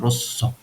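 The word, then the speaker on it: rosso: صدادار مهم نیست چون د تا اسم اومده به صورت تش خونده میشه رسو ز نیست ز نمیده مذکر رسو در حالت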